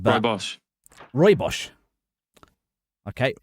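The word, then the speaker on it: rooibos: How do you pronounce reos? Cuz I thought it was ribbos but Roy Bos Roy Bos.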